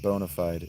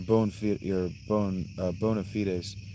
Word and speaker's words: bona fide: And yeah, it's not bona fide. That's a Latin phrase. It's pronounced bona fide.